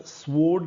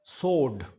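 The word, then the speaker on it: sword: यह शब्द स्वर्ड नहीं है। यह शब्द है स्वड व साइलेंट है। इसमें डब्ल्यू साइलेंट है।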